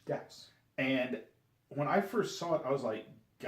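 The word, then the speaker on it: Gyaos: It's pronounced Gauss. Gauss. And when I first saw it, I was like, Gauss? And I tried... Euro?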